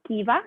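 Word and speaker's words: Kwiva: Kiva si scrive K-W-I-V-A, Kiva, sarebbe chi va e chi viene, chi va, Kiva International.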